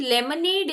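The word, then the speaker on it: Limonade: ऑन two drinks now please note it down लेमनेड इज़ लिमोनाड spelling is same लिमोड सो एल आई एम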